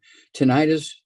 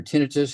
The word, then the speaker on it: tinnitus: you have you have osteoporosis of the skull tinnitus or tinnitus however you want to pronounce it is actually a squeezing of the